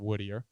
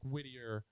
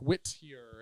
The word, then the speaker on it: Whittier: parties existed in this town called woodier woodier woodier it's like it's in La woodier wi T TI i e r woodier woodier yeah W yeah like Whittier like Wittier is is a closer pronunciation so fast I can't